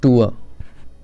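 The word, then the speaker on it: tour: बोलते हैं टूर, हम टूर पे जा रहे हैं, but correct pronunciation is नॉट टूर, इट्स टूअ। तो करेक्ट इज़ टूअ।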